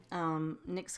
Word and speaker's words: Nyx: next and my ex just like the cosmetic Nick's comes is a primordial